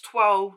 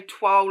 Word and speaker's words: toile: So some people pronounce toile differently. So some might say toile like I do, or some might say toile.